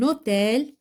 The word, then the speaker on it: hôtel: Un H muet, un hôtel. Donc là, on fait la liaison.